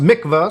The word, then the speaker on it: mikvah: So a mikvah, whatever the pronunciation is, I'm not Jewish, obviously, it actually says pronounced mikvah, so I was right in the first one.